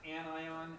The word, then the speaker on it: anion: But it's pronounced anion and cation.